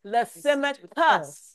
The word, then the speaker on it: Lysimachus: Cassander, Ptolemy, Seleucus, Lysimachus. It looks like chus, but it is pronounced cuss.